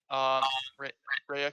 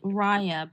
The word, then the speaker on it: Rhea: Rhea, can you mute yourself? Oh, sure. Sorry. It's pronounced Raya, by the way. Raya? Okay, But that's sorry. okay. I know the spelling is confusing.